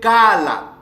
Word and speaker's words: Kala: Alors, donc, ce mot-là, c'est prononcé Kala.